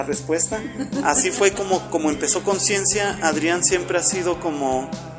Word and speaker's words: Conscientia: que es se pronuncia conciencia simplemente que tiene la t porque está en latín pero se pronuncia conciencia no como en español bueno el nombre tiene